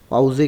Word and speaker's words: Pause: पाउजे कहते हैं, रेस्ट को कहते हैं, मतलब वी यूज़ पाउजे, मतलब काम के लिए भी इस्तेमाल होता है कि भाई पाउजे लिया है मैंने, पाउजे मतलब ब्रेक को कहते हैं।